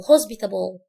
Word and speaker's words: hospitable: hospitable يعني مضياف او كريم، عامله زي كلمة مستشفى الجزء اللي في الاول اللي فيها، فنقول hospitable.